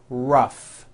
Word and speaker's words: rough: and the last word rough notice the GH combination in that word rough let's work on this